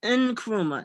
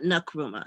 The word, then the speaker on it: Nkrumah: african studies it's pronounced in kuruma not nakrumah there's no a in there and you've got a